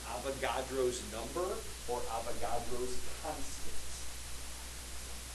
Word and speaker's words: Avogadro: Avocado. Avocado? Like, no, Avogadro. Like, so can you spell that, please? It's like avocado but with a G. Yeah, there's an R in there too.